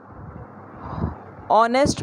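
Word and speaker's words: honest: क्योंकि यहाँ पे हम लोग ऑनेस्ट में एच को साइलेंट बना दे रहे हैं और ओ से हम लोग प्रोनाउंसिएशन स्टार्ट कर रहे हैं, इस वजह से।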